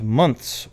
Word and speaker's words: months: Okay, nobody ever says months with a TH sound at the end, right?